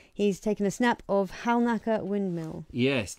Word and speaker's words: Halnaker: Now, I'm being told that Halnaker Windmill, you should not pronounce the L. But I like pronouncing the L, personally. But I think it's supposed to be Haynaker or Hannaker.